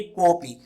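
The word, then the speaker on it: कोऽपि: अब इसको हम पढ़ेंगे कोपी। इस अवग्रह चिन्ह के ऊपर ना तो सीधी रेखा खींची जाती है और ना ही इसका उच्चारण किया जाता है, सीधा बनेगा कोपी।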